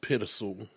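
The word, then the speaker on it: Pitezel: We got a gentleman by the name of Ben Petzel. Pittizel. Something like that. So I believe it's pronounced Pittizel.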